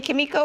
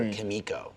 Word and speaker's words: Kimiko: show or as some people randomly call her kamiko which bothers me yeah it bothers me too because uh because uh frenchie calls her husband by kimiko which is right how you pronounce it and